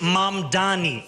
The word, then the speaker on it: Mamdani: And furthermore, the name is Mam Dani. M A M D A N I.